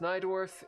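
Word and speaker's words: Najdorf: You say it's pronounced Nydorf.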